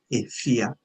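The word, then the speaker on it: Afua: born is Kofi and the female is AIA yeah even though it is spelled AFA okay when we are we are it we are mentioning the name say AIA yeah so this is how we sound it e it is a so I'll leave the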